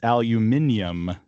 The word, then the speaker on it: aluminium: And for some reason that I still don't understand, it's aluminium to the Brits.